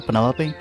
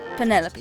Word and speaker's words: Penelope: Is that short for Penelope? Officially, yes, but I never can be bothered with all four syllables of it. Penelope sounds a little ostentatious coming out of the mouth, don't you think?